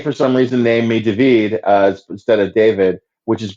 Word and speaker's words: David: And they immediately go, oh, hi, David. Mm-hmm. Which is not the correct pronunciation. It is not. It's David.